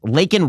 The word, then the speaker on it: Laken: Just remember, Joe Biden has never pronounced Laken Riley's name correctly. She was Lincoln Riley to Joe Biden at the State of the Union address, the woman who was murdered by an illegal immigrant.